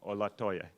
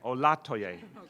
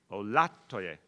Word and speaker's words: Olatoye: With that, our new chairwoman of NYCHA, Shola Olatoye. I did it wrong again. Olatoye. Second syllable, I can do this. Shola Olatoye.